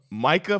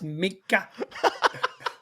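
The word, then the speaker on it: Minkah: threw the pick to Micah Fitzpatrick I believe it's pronounced Mika Michael Fitzpatrick had him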